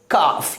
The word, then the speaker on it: calf: L की pronounce नहीं होती है, यानी L साइलेंट हो जाती है, तो इसे क्या पढ़ेंगे? हाफ। अगला एग्जाम्पल काफ यानी CALF काफ।